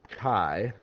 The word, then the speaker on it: chi: Kai Square test um it's pronounced like Kai not Chi or chai It's Kai um and